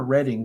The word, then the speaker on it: Reading: do you say this is it reading or Reading Pennsylvania Reading Pennsylvania that's what I thought yes in Reading Pennsylvania